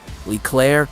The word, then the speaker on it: Leclerc: The resulting AMX-56, Leclerc pronounced, Leclerc took its name from the French general whose armored division liberated Paris in 1944.